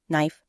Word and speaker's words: knife: with silent letters like a K in knife a t in listen